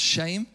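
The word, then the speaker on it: shem: in the Bible and the word for name which is pronounced shame In this passage it's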